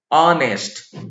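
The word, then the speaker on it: honest: देखें तो आप देखिए आवर का उच्चारण क्या हो रहा है, ऑवर, ऑनेस्ट, ऑनरेबल, ये सारे हिंदी में वॉवेल्स हैं और वॉवेल यानी स्वर ध्वनि से इनका उच्चारण हो रहा है और एच का उच्चारण यहां साइलेंट है, हियर एच इज साइलेंट।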